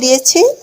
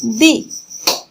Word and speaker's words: the: আসো, এবার আমরা যেটা নিয়ে আলোচনা করব সেটা হচ্ছে কি দি। প্রথমে আমরা উচ্চারণটা জেনে নিই। দি, দা। কখন আমরা প্রনাউন্সিয়েশনটা করব দি আর কখন করব দা?